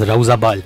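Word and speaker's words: Roza Bal: rosabal uh in fact the correct pronunciation is rosabal which means Tomb of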